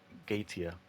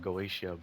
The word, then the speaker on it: Goetia: We fought Tiamat in Singularity 7, Babylonia, and we fought Gaetia. I used to call it Goetia, but apparently it's not how it's pronounced.